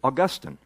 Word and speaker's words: Augustine: Which leads us to mispronounce his name, which is Augustine.